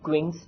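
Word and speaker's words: Quincke's: देखिए तो एक अब मस्त एक अपरेटस लेते हैं, क्विंग्स ट्यूब होती है, क्विंग्स ट्यूब, इसको ऐसे प्रोनाउंस करते हैं क्विंग्स ट्यूब, ठीक है।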